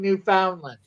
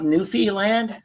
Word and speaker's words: Newfoundland: trouble pronouncing that but i have no trouble pronouncing newfoundland that's how it's pronounced i'm canadian i know it makes me true question is canadian-ness is this pronounced newfee land no okay no i he's